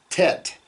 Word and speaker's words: Tet: and the letter Tav in English, we would pronounce that with a very hard T, where you put your tongue at the back of your teeth, Tet, Tav. But in Hebrew, it's a softer on both of those.